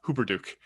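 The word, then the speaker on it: Hupperdook: you know and also how to say uh hooper duke and if you say it wrong that's okay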